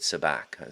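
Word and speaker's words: Sabak: He pronounces it Sabac, so I suppose I should pronounce it the way he pronounces his name.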